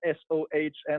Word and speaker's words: Sohn: It is spelled S-O-H-N and pronounced Sohn like a bit like son.